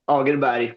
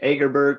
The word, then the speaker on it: Åkerberg: Uh how do The Swedish way to pronounce it is Åkerberg, but you can say like Agerberg or Åkerberg, whatever you want.